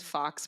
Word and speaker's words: Fawkes: And then my last name is Fox, but it's spelled the British way, Fawkes.